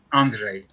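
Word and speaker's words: Andrzej: andre sapkowski okay and then how do you pronounce the first name a-n-d-r-z-e-j andre andre okay all right outstanding there we go pete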